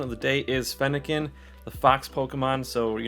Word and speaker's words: Fennekin: um but yeah first before we start uh pronunciation of the day is fennekin the fox pokemon so you know talking about